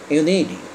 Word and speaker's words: unity: এখানে ইউনিটিকে ইউনিটি বলেছি কারণ টি এর পরে দেখো ইউনিটি অর্থাৎ ই উচ্চারণ আসে তার মানে টি এর আগে ভাওয়েল পরে ভাওয়েল থাকলে আমরা বলেছি যে সাম speakers pronounce D in place of টি অর্থাৎ টি এর জায়গায় অনেক স্পিকাররা ডি উচ্চারণ করে সে কারণে আমি এখানে ইউনিটি বলেছি ওকে তাহলে রাজনৈতিক একটা